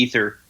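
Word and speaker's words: Aether: third one would be ether which is spelled Within AE at the beginning um it's a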